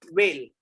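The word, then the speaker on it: well: Next एक आता है वेल, VEIL, वेल, and WIL, वेल। See the pronunciation, see my lip sync, see my lip sync, वेल V से, वेल W से, पूरा sound change होता है।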